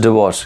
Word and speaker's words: divorce: rishabh how to pronounce it is not diverse it is divorce yes is it clear